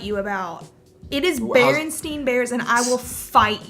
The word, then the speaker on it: Berenstain: And that just comes down to, upbringing, where you are, like the Berenstein Bears. How is it actually That's the one pronounced? I will Berenstain? fight you about. It is How's- Berenstein Bears, and I will fight you.